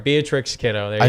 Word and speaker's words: Beatrix: You have the end of the first name wrong. The end of the first name? It's not Beatrice. Beatrix?